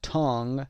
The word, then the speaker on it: tongue: در نوشتن و تلفظ دقت داشته باشید با اینکه UE داریم در بعد از tongue UE تلفظ نمیشه و میخونیم tongue.